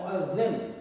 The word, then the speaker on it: مؤذن: کو کہا جاتا ہے مؤذن۔ ہمارے پاس لوگ اس کا تلفظ صحیح نہیں بولتے، مؤذن صاحب کہتے ہیں، حالانکہ مؤذن صاحب صحیح لفظ نہیں ہے۔ تو مؤذن وہ اس